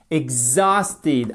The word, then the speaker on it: exhausted: Exhausted, accentuation sur la deuxième syllabe, ok?